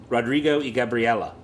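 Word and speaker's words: Rodrigo y Gabriela: Gabriella I I think it's Spanish so the Y is pronounced e which is Spanish for and Rodrigo e Gabriella hate me okay go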